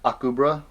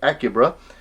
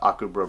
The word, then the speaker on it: Akubra: my new fedora and akubra which i was calling acuba but i was corrected in the comments and i thank you because i want to say it right and may i say